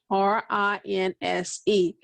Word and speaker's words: rinse: we have here rents r-i-n-s-e let's see it rinse and we have a final solid e in this word yes and the final position that e is not pronounced i don't hear it